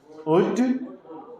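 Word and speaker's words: would: नहीं सुलट नहीं इसको क्या पढ़ा जाएगा शड उड कुड यहां त कोई दिक्कत आप लोग को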